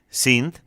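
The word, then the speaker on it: Cinth: Sin, a quien les voy a presentar, así, C-I-N-T-H, así se escribe, Sint, es una intérprete argentina que conocimos gracias a este espacio, gracias a Voces del Mundo.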